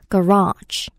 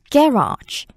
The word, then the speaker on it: garage: 차고나 주차장은 garage라고 하는데 이 단어가 영국식이랑 미국식 발음이 굉장히 좀 차이가 있어서요. 우선 미국식일 때는 이음절에 강세가 들어가요. garage, garage. 영국식일 때는 이름절에 강세라서 garage, garage 이렇게 들립니다.